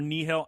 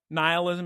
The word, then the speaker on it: nihil: of Nile light or nihil. How do you pronounce n ih i l. Is it ny? It's probably n. Yeah, like it's like a Nile. Nihilism. Yeah, Nile.